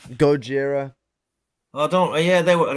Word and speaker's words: Gojira: same word as Godzilla Gojira is like a more Japanese pronunciation of Godzilla because yeah yeah before